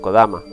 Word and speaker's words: Kodama: el mismo no obstante la pronunciación del nombre del ente siempre ha sido kodama en sus inicios el